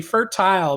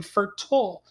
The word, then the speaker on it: fertile: name it should be fertile but it's saying fertile so this is a tricky word because it's not the i is kind of silence making an o sound at the end what do you think